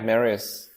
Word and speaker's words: Marius: welcome to the show marys I didn't even ask you if that's how I pronounced it that is their correct way to pronounce your name right yeah Marius okay perfect well what thank